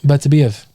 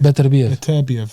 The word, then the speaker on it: Beterbiev: Bertabiev. It's not Bertabiev, though, isn't it? Beterbiev. Beterbiev. You can say Beterbiev or Beterbiev.